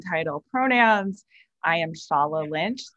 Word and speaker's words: Shola: title pronouns i am shala lynch my name is spelled shola but pronounced shala is nigerian i am a filmmaker